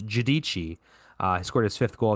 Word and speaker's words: Giudici: In the second period, it was Noah Giudici, me and Tristan figured out how to say his last name is Giudici.